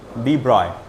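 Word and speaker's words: de Broglie: एक फिजिसिस्ट थे Morris डी ब्रॉगलीनी, डी ब्रॉय है ना, डी ब्रॉगली करके अपन बोलते हैं, प्रोनाउंसिएशन गलत है उसका। अब वो क्या करेंगे, अब उनका लैंग्वेज है, वो फ्रेंच लोग हैं वो जिनकी बात कर रहा हूँ मैं, तो उनके नाम लिखने का तरीका, प्रोनाउंस करने का तरीका बहुत अलग होता है।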